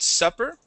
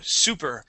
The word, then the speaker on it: super: word super all right now you had pronounced it supper now there is a word pronounced supper but it has two P's and when it has two P's okay supper means dinner okay now if it only has one P that is a long u sound okay and that means like extraordinary okay so super uh